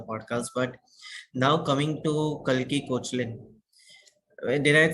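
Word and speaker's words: Koechlin: everybody pronounce it as Cochlin, but ideally it's pronounced as Kekla. This is the French pronunciation, Kekla. Keklan. So la Kekla. Okay, French. Kalki Kekla. Yeah, that is how you pronounce it in French. Like that's how it's supposed to be pronounced. But in India, we all call her Kalki Kochlin.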